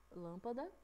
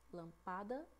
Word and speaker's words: lâmpada: Presta atenção, a gente fala lâmpada, lampada ou lampadá?